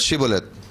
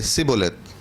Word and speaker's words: Shibboleth: They were supposed to pronounce Shibboleth, but in Ephraim, if the word H would not be pronounced, right? So they would pronounce Sibboleth.